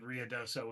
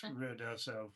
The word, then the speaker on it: Ruidoso: Ruidoso. I think it's ruidoso. Yeah, but I said rioso, which is not right. It's It's ruo. But it's when you say